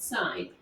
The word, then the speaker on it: sine: That's how you say it, sine.